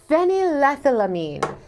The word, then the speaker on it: phenylethylamine: I can't pronounce it, Serotonin? but I'm going to try. No, it's phenylethylamine.